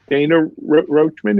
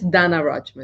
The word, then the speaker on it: Donna Rochman: i mispronounce your name i don't know if it's dana or dana roachman is that how do you pronounce it it's the it's donna rochman it is donna all right i'm sorry i it was 50 50.